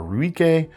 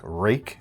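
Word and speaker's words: Ruike: have trouble pronouncing uh it looks like Ru or ruik but I think it's pronounced uh something like rake actually uh it's tough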